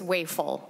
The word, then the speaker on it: Weifel: It's Weifel. Weifel. It's like you ate too much.